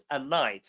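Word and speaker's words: knight: A night, like not the night like now, but the night that fights dragons. The K is silent.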